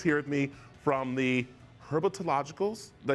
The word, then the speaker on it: Herpetological: And Mike is here with me from the Herpetologicals.